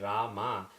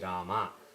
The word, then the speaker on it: Rama: The thing is, when you write Hindi, the A at the end of a word basically is not pronounced. For example, if you write Rama, you pronounce this as Ram, but that is only in Hindi because of the Arabic influence. In Sanskrit, if you write like this, it is Rama.